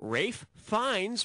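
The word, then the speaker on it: Ralph Fiennes: malz or cha Bei Rafe fines rhymes with safe Pines yeah he was great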